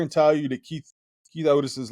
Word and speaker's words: Oats: But, guys who Keith Otis. Yeah, is how you say it, I guess. It's spelled Oats, and we've always said Oats, but I guess it's Otis over East Pennsboro.